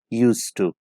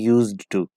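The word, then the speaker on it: used to: Modal verb है और इसकी जो प्रोनाउंसिएशन है वो यूज टू है, यूज टू, ना कि यूज्ड टू। इसका डी साइलेंट है, आप इसके डी को प्रोनाउंस नहीं करेंगे बल्कि आप इसे यूज टू कह के प्रोनाउंस करेंगे।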